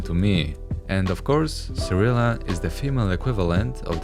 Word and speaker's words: Cirilla: Cyrilla, or Siri, isn't pronounced this way originally. Now, I'm gonna leave the judging to you, but in Polish, it's Cyrilla and Ciri.